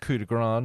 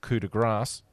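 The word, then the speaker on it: Coup de Grâce: It's pronounced Cudigr, not Cudigrass.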